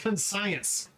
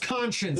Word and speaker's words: conscience: It's not it's not pronounced cons science. It's pronounced conscience.